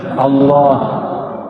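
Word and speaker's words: الله: ketika menarik ketika mengeluarkan lafaz Allah Coba baca Allah saya orang sudah bacanya Allah ya Al itu bukan dia lam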